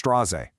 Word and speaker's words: Straße: It's not Straße, it's Straze. Just a sharp S.